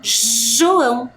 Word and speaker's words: João: E o mesmo acontece com o nome João. Olha, o som que eu faço com a minha boca, escute bem, olha lá. João, gelo, girafa, jacaré.